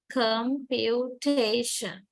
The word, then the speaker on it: computation: much about this line so we say that ta carries primary stress and come carry secondary stress that's computation right computation now okay